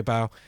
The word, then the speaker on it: F-Bow: The F is silent, just say bow.